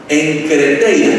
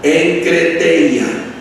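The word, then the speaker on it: enkrateia: Entonces, la palabra dominio se traduce del griego enkreteia, que se escribe así, E-N-K-R-A-T-E-I-A, enkreteia, que significa dominio propio, templanza.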